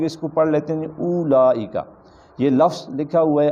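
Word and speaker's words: أولئك: غلط ہو جائے گا۔ اس کا اصل میں تلفظ جو ہے وہ اولئک نہیں ہے، اس کا تلفظ جو ہے اولئک ہے، یہ واو نہیں پڑھیں گے، یہ واو سائلنٹ ہے۔ وحسن اولئک رفیقا، رفیقہ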